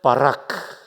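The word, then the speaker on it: בָּרַךְ: 바라크. 발음이 거의 신대원 수준입니다.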